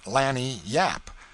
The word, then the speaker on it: lagniappe: They pronounce it lanny yap.